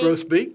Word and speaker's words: grosbeak: Grosbeak, yeah.